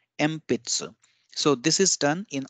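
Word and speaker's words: えんぴつ: when we pronounce it we replace this n with an M sound M pizza so this is done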